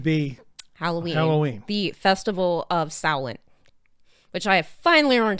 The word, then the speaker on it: Samhain: The festival of Samhain. Which I have finally learned how to pronounce that word, and I am really proud of myself We're for that.